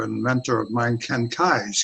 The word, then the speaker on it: Keyes: And then, and as time went on, I learned about consciousness through a great author and mentor of mine, Ken Keyes, K-E-Y-E-S, like spelled like keys.